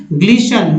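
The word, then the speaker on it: glisten: ग्लिशन में टी का उच्चारण नहीं करना है, ग्लिशन मीन्स चमकना।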